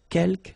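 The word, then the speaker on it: quelques: Uh you don't pronounce the final S here. Keelk means few.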